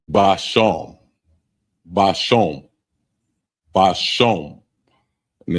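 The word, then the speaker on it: בשם: And it's spelled Ishab. Ishab. Ashab. And that means herb. Next one is spice. And it's basham.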